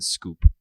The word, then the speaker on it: Schoop: Jonathan Scoop. Can still hit homers, sure. Jonathan, hold on. Let me see if I know how to spell it. It's SCHOOP. Correct. Yeah. Jonathan Scope hit 22 bombs last year for the Detroit Tigers.